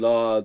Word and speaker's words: Allah: kalın okunuyor L değil la diye okunuyor Allah isminden önceki harf sadece esr olursa e diye okunuyor Bu kadar basit yani